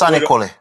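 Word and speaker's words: Sanniquellie: Kyle, I'm looking at you as Senequella. I didn't know if it was a city or whatever the hell it was. Oh, so it's pronounced Sanicole.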